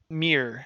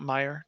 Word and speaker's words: Mere: Mere, sorry, not Mire, Mere of Dead Men.